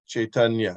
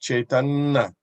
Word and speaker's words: Caitanya: you pronounce the Y caitanya right but in the Bengali pronunciation if you listen you don't pronounce the Y you hold on to the N longer time and you'll you'll hear